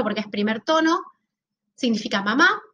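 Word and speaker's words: 妈: El primero, que tiene el número 1 porque es primer tono, significa mamá y se pronunciaría algo así como ma.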